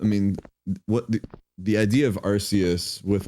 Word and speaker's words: Arceus: on the level of Arceus because all of the Pokemon games before that